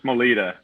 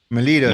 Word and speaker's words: Maleta: How do you like to pronounce Uh, it? Maleta. Melita, there you go.